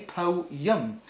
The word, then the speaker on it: poem: airship and dun freesha they call a poem a po yum unlike it's bizarre because there's no why in poem po young it's bizarre